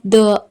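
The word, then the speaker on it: the: मतलब तो you have द आर्ट you have द आर्ट द आर्ट नहीं होगा दी आर्ट होगा क्योंकि आर्ट में ए वावेल है तो दी प्रोनाउंस करेंगे यू हैव द आर्ट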